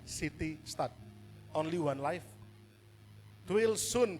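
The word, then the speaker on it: C. T. Studd: Next, yang terakhir, Bapak Ibu Saudara, saya akan tutup dengan satu kata-kata dari seorang hamba Tuhan, namanya City Stud, CT Stud, jadi bacanya City Stud.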